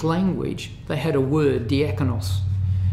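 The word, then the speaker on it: διάκονος: they had a word diakonos we pronounce it in English as diakonos this is slightly different but one who executes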